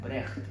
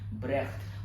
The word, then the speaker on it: Brecht: वो ये है प्रोनाउंसिएशन, ब्रेख्ट। और जो ख है वो आप देखेंगे गटरल है, यानी जैसे उर्दू में उर्दू वाला जो ख होता है, जो खराश वाला ख है, तो ब्रेख्ट है, ना कि ब्रेस्ट है।